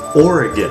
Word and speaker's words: Oregon: Okay, let's quickly go over this; Oregon (oar-eh-gun, not oar-eh-gone), Willamette (will-ām-it, not will-im-it), Clackamas (clack-uh-mas, not clakāmus).